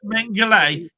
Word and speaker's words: Mengele: Yeah, pronounced Mengele.